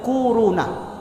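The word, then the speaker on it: كورونا: Kak wow wow nah korona korona bacanya tuh kuruna Ah ini bukan dibuat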